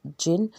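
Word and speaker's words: Djinn: You will pronounce this word jinn. D is silent here, right?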